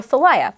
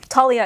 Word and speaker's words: Thalia: So I call her Thalia with that pronunciation. But I know, like, Talia is also correct.